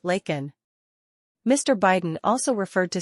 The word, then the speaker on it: Laken: to say her name he called her Lincoln instead of her name her correct name is Laken Mr Biden also referred